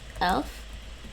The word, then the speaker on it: elf: elf what dutch p would some dutch people pronounce that alf eleven as elf i guess they would yeah they would actually they would say lf some some of them but it's really elf twelfth 12 13 13